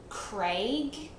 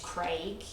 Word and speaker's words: Craig: is the name Craig, what we say as Craig, and Americans, I'm not sure if this is the same for Canadians as well, saying Craig, like C-R-E-G, Craig. But we, like Aussies, pronounce like every single letter in the word.